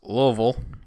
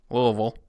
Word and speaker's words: Louisville: It's pronounced Louisville. You have to say it like you Louisville. Have a mouthful of something. Louisville. Louisville.